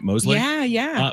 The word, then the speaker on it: Mosley: That's how you pronounce the last name, right? Mosley? Yeah.